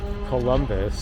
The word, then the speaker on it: Columbus: Columbus. Columbus. Like the like the Colobus monkey.